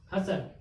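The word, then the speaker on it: hustle: हसल, इसमें क्या है, एस के बाद क्या आ गया, टी आ गया, तो टी क्या हो गया, साइलेंट हो गया, यानी HUSLE, हसल।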